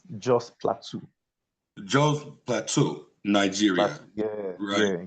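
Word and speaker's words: Jos Plateau: Is it called um it's let me say it right. It's Jo Plateau. It's Joe's Plateau.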